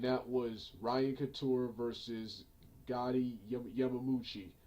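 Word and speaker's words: Goiti Yamauchi: this show, and that was Ryan Couture versus Gotti Yamamuchi. Goiti Yamamuchi, I think that's his name.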